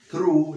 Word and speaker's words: threw: Entonces, he threw, la pronunciación, th, como si dijeras Zaragoza, poniendo la lengua en los dientes de arriba.